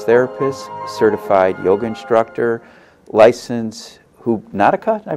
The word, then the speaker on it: Hoopnotica: Cindy is a licensed massage therapist, certified yoga instructor, licensed Hoopnotica, did I pronounce that correctly? Hoopnotica.